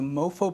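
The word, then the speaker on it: MoPhO: Stanford mobile phone Orchestra that shines to mofos but is spelled with a pH featuring all iPhone iPod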